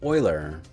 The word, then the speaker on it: Euler: after a swiss mathematician whose name is actually pronounced euler so everyone jot that down they started the